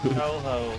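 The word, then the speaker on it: Touhou: I don't know how it's pronounced. Tau Hau? It's Tau Hau. Tau Hau? Yeah. I've never heard anybody pronounce it as Tau Hau. I've heard people say Tuhu.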